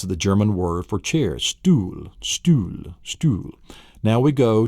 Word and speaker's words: Stuhl: So it sounds like the word stool.